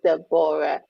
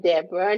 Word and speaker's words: Deborah: will pronounce the book your name is the borah not deborah not debbie you know anything is the borah so make sure when you're telling people you pronounce it they're bored so i grew up